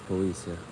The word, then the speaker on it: poesia: It's poesia. Poesia. No spy, no CIA. It's SIA.